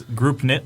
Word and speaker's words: Groupknit: that you asked because there is a silent k in there and uh I want to make sure that it's it's group knit like groups together K yeah group kit